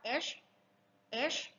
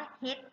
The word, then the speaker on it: H: ตัว H นะ คะ ลง ท้าย ด้วย ชา นะ ลูก สะเอว อ่าน ช้า ๆ ว่า H H H นะ คะ เรา จะ ไม่ ออก เสียง ว่า เฮ็ด นะ ลูก เฮ็ด ผิด